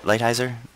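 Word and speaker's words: Lighthizer: uh Navaro and uh uh ligh Heiser right lighthiser that's how you pronounce his name and um they're in more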